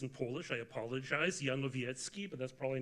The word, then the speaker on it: Janowiecki: The name pronunciation was good. We say it both ways. 95% though, Janowiecki, to make it easier on others.